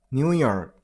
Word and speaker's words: New York: And it's New York. Stress on the last syllable. New York.